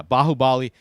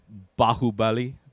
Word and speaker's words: Baahubali: i'm pronouncing that wrong i'm trying to sound like the way they say it in the movie bahubali bahubali kind of sound bahubili a great movie